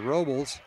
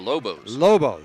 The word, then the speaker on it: Lobos: And the Robles are set back. Did I pronounce that right? Robo, that's it. The Lobos.